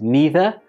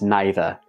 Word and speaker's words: neither: e like either and neither or do you pronounce them with an I like either and neither let me know below